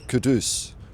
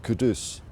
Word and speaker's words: Kudus: I mean or I think Ali Gold said his name is pronounced Kadus. So I'll try and get that right. Kadus.